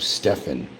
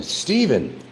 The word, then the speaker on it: Stephen: Just like Steven. They call himself Stefan. S T E P H E N. Steven. It's Stephen. Say it right.